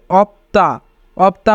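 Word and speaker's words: 없다: সিউতের উচ্চারণ হবে না আবার যদি পবাচিম থাকে এবং তারপরে দ্বিগুত থাকে তবে দ্বিগুতের উচ্চারণ ত হয় তাই উচ্চারণ হবে অপতা অপতা মানে নেই মান্দা মান্দা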